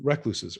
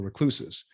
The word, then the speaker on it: recluses: us went inside and became recluses or recluses. Depending if you're in US or UK, you would pronounce that differently.